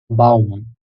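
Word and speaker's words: Baum: এরপর বে দিয়ে যেটা আছে সেটা হলো বে ও এম একত্রে বাম বাম অর্থ হল গাছ গাছকে বাম বলে আবারো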